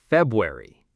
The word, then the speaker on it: February: Most learners try to pronounce the R, February, but native speakers, we drop that R. We say February.